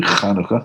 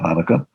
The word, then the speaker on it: Chanukah: It's really Chanukah, not Hanukkah.